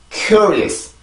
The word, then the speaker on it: curious: cure, cure, is, cure, is, curious, curious, curious. 다시 한번 curious, curious, curious. 자, 그래서 여기에서는 보면 지금 여기 단어의 끝이 S 발음이죠. 그러면 아까 전에 처음에 나왔던 S보다 소리가 월등히 약해져야 돼요.